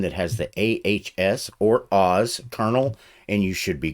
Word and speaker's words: AHS: It's pronounced Oz.